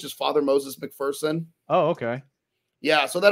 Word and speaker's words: McPherson: And it's McPherson, not McPherson. There's no fear in McPherson. Okay. Got it. It's P-H-E-R-S-O-N. It's not E-A-R-S-O-N. There's no fear in it.